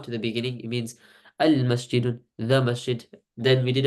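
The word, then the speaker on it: المسجد: Either you pronounce the alif lam, so you say al-masjidu or al-qamaru, or you don't, and you pronounce it, for example, like ash-shamsu.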